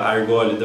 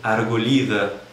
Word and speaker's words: Argólida: ali em árvores né Argos se for falar na pronúncia do Grêmio na região da argólida não arguida em grego moderno Então vamos pro vídeo